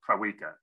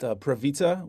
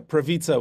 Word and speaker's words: Prawica: last name is pronounced pravita which is i guess like pizza the w is pronounced as a v but i mostly just